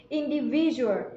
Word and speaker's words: individual: đâu indie Vi rùa trọng âm rơi vào âm thứ ba Các bạn nhất indie